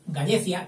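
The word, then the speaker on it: Gallaecia: Este diptongo AE, yo lo pronunciaré siempre E, como me han enseñado, la Gallecia, que era Galicia, y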